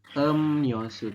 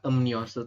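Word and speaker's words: 음료수: kita jawabannya adalah emnyosu tulisannya emriosu teman-eman emriosu tapi kita membacanya adalah emosu Bisa dijelaskan Masdi Kenapa dibacanya amniosu Karena konsonan miem bertemu dengan dengan ya maka R berubah bunyi menjadi menjadi niion n Oke Betul ya menjadi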